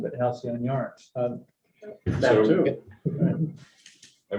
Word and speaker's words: Halcyon: No, maybe just a pronunciation of the road name, which is Halcyon.